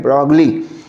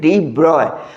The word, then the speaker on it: de Broglie: de Broglie spelling याद रखने के लिए ब्रॉगली बोल सकते हो, कुछ लोग प्रोनाउंसिएशन ऐसा भी करते हैं ब्रॉगली, बट जो एग्जैक्ट प्रोनाउंसिएशन है दैट इज de Broglie.